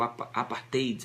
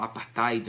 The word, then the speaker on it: apartheid: Existia o apartheid naquela época. As pessoas falam apartheid, mas na verdade é apartheid que se pronuncia.